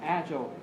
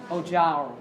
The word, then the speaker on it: agile: Từ này có 2 cách đọc, cũng giống như là vừa nãy thôi, đúng không? Chúng ta có thể xoa âm số 2 thì chúng ta sẽ đọc là agile. Và chúng ta có thể xoa âm số 1 chúng ta đọc là gì đấy? Agile.